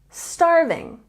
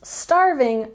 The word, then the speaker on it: starving: I'm starving let's eat we have a stress here on the first syllable say it with me starving starving now of course starving literally means that you